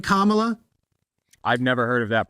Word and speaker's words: Kamala: just call her by her name it's not Kamala it's Kamala just just say her name bro now move